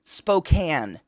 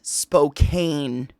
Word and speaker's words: Spokane: people cannot get right Spokan Spokan not Spokane this but there's an e at the end so people pronounce it Spokane Spokane that's how people